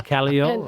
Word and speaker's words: Caillou: So the Callio, I always pronounce it Caillou. See, French here.